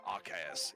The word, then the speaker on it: RKS: yeah so rks system so rks is how you're supposed to pronounce it that is my reasoning